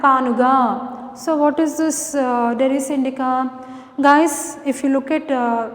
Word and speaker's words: Derris indica: Look at the pronunciation, listen carefully. Derris indica.